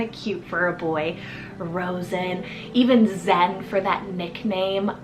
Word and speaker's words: Rosen: below next up we have a rosin the r-o-s-e-n Rosen this is one of those names that are romantic and you can give the nickname Rose too I think that's kind of cute for a boy Rosen even Zen for that nickname oh I love